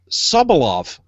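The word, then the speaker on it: Sobolov: be a good uh Star-Lord uh David solo subalov that's that's how you pronounce his name a lot of O's in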